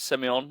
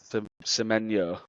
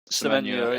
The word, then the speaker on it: Semenyo: And then the forward, is it Semyon? Is that how you pronounce it? Semenyo. Semenyo, yeah, he's off to Tottenham by the sounds of it.